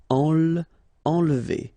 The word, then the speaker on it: enlever: Okay, nasal here, en, and then don't insist on this here. Enlever.